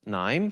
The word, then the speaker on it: KNIME: scientist at n uh it's pronounced n so K is silent um our company is